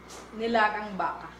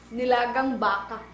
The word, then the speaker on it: nilagang baka: And how do you pronounce this in Philippine? Nilagang baka. Did you guys all catch that? Say it one more time loudly. Nilagang baka.